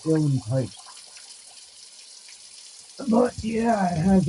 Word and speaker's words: Uilleann: a lot of people pronounce it like that, but it looks like Uilleann pipes. I think it's pronounced Uilleann pipes.